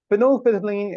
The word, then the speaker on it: phenolphthalein: Phenolphthalein is, or phenolphthalein, both pronunciations are fine, is actually colorless in